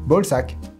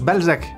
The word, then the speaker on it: Balzac: anglais sac de couille bolsac alors non vous n'êtes pas monsieur bolsac si mais ça se mais ça se prononce Balzac mais vous pouvez dire